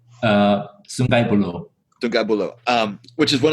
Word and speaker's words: Sungai Buloh: It was to Singapore twice, and I went to correct my pronunciation, please, but Sungai Buloh. Sungai Buloh.